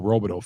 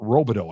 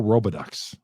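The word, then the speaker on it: Robidoux: Oh, Billy Joe Robideau. I remember one time he was on TV on a nationally televised game, and they pronounced his name Billy Joe Robidux.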